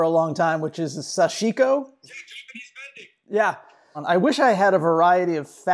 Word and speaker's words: sashiko: practice, sensibility, to use that word again, called sashiko. Like a not quite curious enough person, I've been pronouncing it wrong, sashiko.